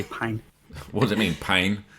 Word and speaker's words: Pijn: For everyone listening, your instinct will be to pronounce it pigeon, but it's actually pine.